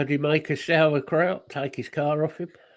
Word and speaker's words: Sauerkraut: I pronounced it how an Englishman would say it, which is sauerkraut. I'm going to get corrected now on the pronunciation. I was going to say, let's do the actual. Sauerkraut.